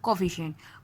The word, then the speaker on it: coefficient: कोइफिशिएंट, इसको पढ़ेंगे कोइफिशिएंट, एंड in regular you will be just reading is इट एज कोफिशिएंट.